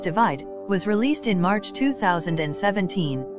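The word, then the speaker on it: ÷: Sheeran's third album, pronounced Divide, was released in March 2017, and was the best-selling album worldwide of 2017.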